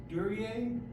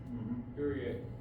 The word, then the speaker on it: Duryea: So this is the, I believe it's pronounced Duryea. Duryea.